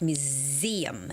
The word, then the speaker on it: museum: Museum. It's with that z z z museum sound, okay?